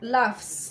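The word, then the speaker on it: laughs: مثلا لاف، لاف يضحك، لو لافس قولوا لافس بالاس. علاش؟ باسكو هذه صح راهي جي اش، راهي تبان لنا جي اش مي في الحقيقه راهي تنطق اف.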